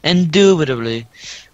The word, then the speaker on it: indubitably: With five syllables, it's kind of a mouthful. Indubitably.